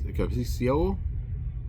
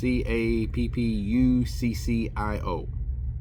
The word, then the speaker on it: Cappuccio: I think that's Cappuccio. I think that's how it's pronounced. It's Cappuccio.